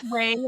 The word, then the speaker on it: Rahe: So Rahe, and I'll just tell the people, and they'll get this in What the do you show do with the notes. It's vacuum? pronounced Rahe, like ray of sunshine, and it's spelled not.